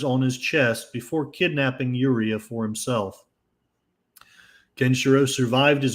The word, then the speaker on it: Yuria: his fiancée Yuria, or Julia as they often call her, but it's according to this, it's supposed to be pronounced Yuria, to find a future for themselves in the post-apocalyptic world.